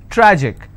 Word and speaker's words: tragic: Tragic, tragic, I will stress on tra.